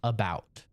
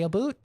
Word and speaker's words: about: head it's always oo and since it's not a o o t it's a o UT it's clearly about very clearly so my fellow Canadians we are wrong and that's why I don't say a boot that's why I have